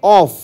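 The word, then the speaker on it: off: Take অফ একটা appropriate phrasal verb, মাটি ছেড়ে ওপরে চলে যাওয়া, সেটা হচ্ছে ও ডাবল এফ, অফ।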